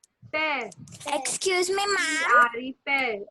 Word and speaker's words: père: How do you pronounce dad in French? Dad? Yes. Okay, père. Pear.